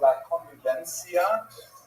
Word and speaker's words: la convivencia: That's why this period, especially the earliest part of the period, is sometimes called La Convivencia. Spaniards would say something like La Convivencia because they pronounce that C as a TH sound.